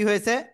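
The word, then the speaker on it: حَ: মুখ দিয়ে হালকা বাতাস বের করতে হবে, গলাটা চেপে উচ্চারণ করতে হবে। হা জবর হা।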